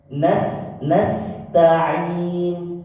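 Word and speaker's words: نَسْتَعِين: Cara baca yang benar adalah kalau shad sama cara membacanya, ini diitbaq saja. Tapi kalau sin tidak diitbaq, bacanya tipis sekali. Nas kecil sekali. Jadi kayak lubang untuk keluar desisnya itu sangat kecil. Kalau shad lebih besar.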